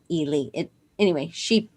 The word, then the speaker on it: Ely: ely minnesota and um it looks like eli but she's really from ely it anyway she phonetically